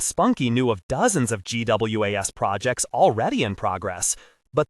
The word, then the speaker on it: GWAS: It'll require a GWAS. The term he pronounced GWAS was an acronym, Genome-Wide Association Study, or GWAS.